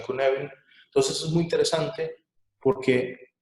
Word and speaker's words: Cynefin: Se escribe Cynefin, pero los que lo crearon lo pronuncian Cynefin.